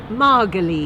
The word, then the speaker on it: Margolyes: maryles Harry Potter star no no marges marges get that right start start again again